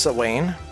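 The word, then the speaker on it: Samhain: It's pronounced sane.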